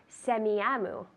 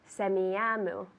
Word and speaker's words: Semiahmoo: I'd like to send a package to Semiahmoo. That's SEMIAHMOO. Semiahmoo. Let's see. Semiahmoo. Good. Semiahmoo.